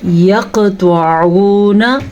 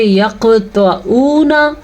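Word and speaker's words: يقطعون: یقطعون، طوا کو پر پڑھنا ہے. عین کے تلفظ کا خاص خیال رکھنا ہے. اگر آپ اس کو پڑھیں گے یقطعون تو آپ نے غلطی کر دی.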